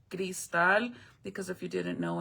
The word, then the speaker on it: Crystal: My name isn't actually uh it's spelled like crystal, like American name crystal, but it's actually gristal because if you didn't